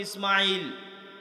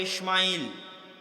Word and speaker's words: ইসমাইল: সালাতু সালামের নাম পাবেন আমরা সিন হালকা করে উচ্চারণ করি ইসমাইল তারা বড় করে মোটা করে উচ্চারণ করে ইসমাইল এবং তারা এটাও স্বীকার